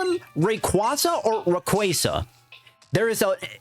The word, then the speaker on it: Rayquaza: because I call for a long time I call it Rayquaza. It just sounds better. But I know officially it is pronounced Rayquaza.